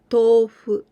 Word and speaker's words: tofu: The longer sound of this to.